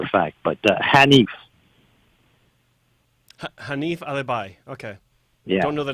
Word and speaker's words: Alibhai: Did you say his name was Alibaba? Ali. Yeah, I'm looking at the name. Like ALIBHAI. And he's not there anymore, obviously. Alibi.